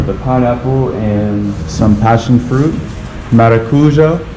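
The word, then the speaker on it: maracujá: pineapple and some passionfruit maracuja passionfruit I think maracuja America something like that that's how they say it here finally some space we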